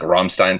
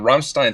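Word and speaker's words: Rammstein: It's supposed to be like Ramstein or something. Wait, are you sick too like? No, I was just going to clear my throat and say Ramstein. Yeah.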